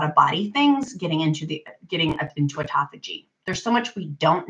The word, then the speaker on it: autophagy: It's spelled like autophagy, but it's pronounced autophagy, where that can help us.